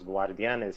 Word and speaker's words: Guardianes: Los Guardianes.